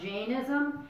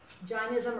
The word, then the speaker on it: Jainism: Sometimes it's pronounced Jainism. It really influenced Gandhi. Jainism or Jainism.